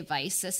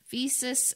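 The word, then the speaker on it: Visas: so and then visus i always used to say vices and some people corrected me and i'm like i'm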